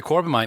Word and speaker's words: Corbomite: My number 1 episode was, in fact, the Corbomite maneuver.